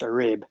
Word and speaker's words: Arib: You actually had it right when you pronounced it before. It's actually pronounced Arib.